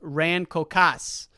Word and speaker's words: Rancocas: jersey and i'm now reading that raincoast is pronounced rancocas so the rancocast valley red devils good luck